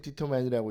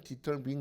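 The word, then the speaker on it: determine: 거래요 무슨 말씀이에요 그랬더니 우리가 읽을 때 디터 아이라고 있지만 진짜 발음은 디터민 이래요 다르죠 약간 다르죠 그까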